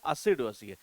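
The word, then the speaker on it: assiduous: Plus actual में इस word की डेफिनेशन क्या होती है, जैसे कि इसका प्रोनाउंसिएशन है असिडुअस, यानी कि इसका अर्थ क्या निकलता है, हार्ड वर्किंग।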